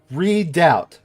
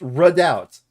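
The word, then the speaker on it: redoubt: Ru like French or but red redou is I don't think that's how you're supposed to pronounce it hold on a second uh I want uh redout redout it is literally pronounced redout okay I pray for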